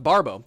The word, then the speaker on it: Barbeau: We have Barbeau again, who says it's pronounced Barbo.